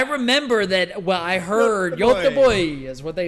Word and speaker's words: Göteborg: Göteborg. Göteborg. That's how you say Gothenburg? That's what Legendam says. You don't say Gothenburg, you say Göteborg.